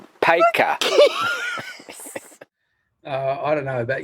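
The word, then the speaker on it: Paika: k for car hey p-i-k-a p-a-i-k-a which is pronounced paco uh i don't know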